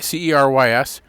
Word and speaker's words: Cerys: But the closest English pronunciation is kind of like the first three letters of Seattle s e a r